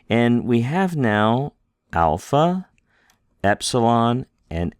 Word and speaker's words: epsilon: Epsilon, A. Zeta, Z. Z. Pardon me, Zeta is Z. Eta is A. Pardon me. Let's go back here and make sure we can say this correctly. Epsilon is A.